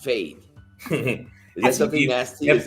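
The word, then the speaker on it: Feid: But production says that it's from Fade. F-E-I-D. I guess it's pronounced Fade.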